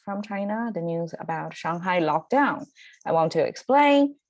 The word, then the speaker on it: Shanghai: So Shanghai is how it's pronounced, Shanghai. Okay, so even if in English speaking world, it's Shanghai, right? Shanghai. People try to give a little bit of sense of tonal change or Shanghai, Shanghai, or Shanghai, right?